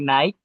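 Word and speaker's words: knight: For example, the night, silent K, GH, and depth, silent B.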